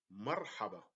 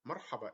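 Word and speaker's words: مرحبا: syllables let's move to Marhaba Marhaba is welcome so we separate the two syllables by Mar the first one we put the sukoon on the letter R and then let's move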